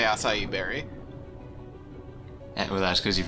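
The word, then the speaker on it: açaí: heard anyone not say acai berry. Well, that's because you've never heard anyone say the word. Well, there's an accent on the C, like a really obvious accent, like a Portuguese accent.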